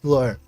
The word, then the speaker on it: Lure: Lure. My name does not rhyme with Blu-ray.